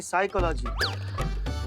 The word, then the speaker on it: साइकोलॉजी: तो साइकोलॉजी नहीं, साइकोलॉजी। P silent होता है।